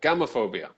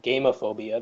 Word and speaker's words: gamophobia: this one game of phobia or gamophobia sorry gamophobia GA mo pH OB ia gamophobia so does anybody know well this could be gamophobia gamophobia camel said when you pronounced it game of oviya the first thought that jumped into my head